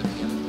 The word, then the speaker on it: Piano: Yeah, that's a Renzo piano.